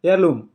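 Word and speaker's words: heirloom: है, उसको जाता है एयरलूम। एच साइलेंट रहता है, एयरलूम पढ़ा जाता है पैतृक संपत्ति।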